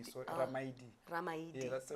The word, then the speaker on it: Ramaili: So l i is pronounced d. So raid.